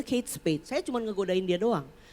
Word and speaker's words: Kate Spade: bukan dombet dari Amerika menurut dia yang betul pasti bacanya kate Spay dan itu Bul memang bacanya Kate Spade Saya cuman ngegodain dia